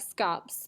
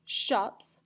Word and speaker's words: scops: these people named shops I know it looks like scops but it's pronounced shops and or bards and